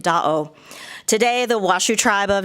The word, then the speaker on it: Da'o: Lake Tahoe is actually a mispronunciation of the Washoe word for lake, Da'o.